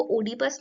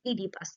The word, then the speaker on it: Oedipus: आप ध्यान रखिए कि जो प्रोनाउंसिएशन है वो ओडीपस नहीं होगा, दैट इज ईडीपस.